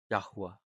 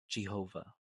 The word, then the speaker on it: Yahuah: So combined we get yod and hey to make yahoo and hey is ah. So it's Yahwa. It's not Yahweh, not Yhovah, definitely not Jehovah. It's Yahweh.